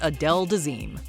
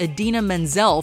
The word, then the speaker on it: Idina Menzel: John Travolta introduces Adele Dazeem. It's not that John Travolta simply mispronounced a name. It's that he shockingly butchered it, seemingly creating a whole new one in the process.